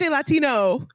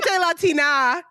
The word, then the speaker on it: Latina: Uh mint Latino even though I know it's mint Latina is is the correct way to say it.